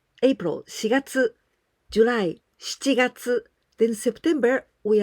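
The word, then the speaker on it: 四月: Oh, you must be very careful because this number 4 we can pronounce し or 4. In many occasions, we usually say 4, but in this case of the months of the year, we must pronounce with し.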